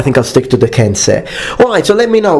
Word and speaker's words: Kensei: Actually, in Japanese, and I do speak Japanese, when you have e and e, the last sound e often is dropped by natives. So the actual Japanese way of pronouncing it is Kensei. Kensei, just like when you say sensei, sensei.